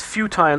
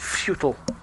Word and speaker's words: futile: way he pronounces futile it's futile not FAL yeah well data always